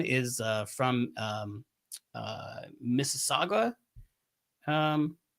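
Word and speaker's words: Mississauga: Vince Dunn is uh from um uh Missaga um right? Is that how you pronounce it? Uh yeah, Missaga.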